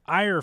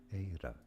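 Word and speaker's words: Éire: In English, it's generally said as air. Now, in Irish, this is said, and I guess that's how it should be pronounced, as Eira.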